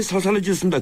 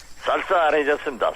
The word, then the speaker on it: 쌀쌀해졌습니다: 예, 이 날씨가 많이 살살해졌습니다. 건강 괜찮으시죠? 쌀쌀해졌습니다. 살살이 아니고. 예, 우리 경상도 사람들은 상시역 발음을 가끔 실수를 합니다.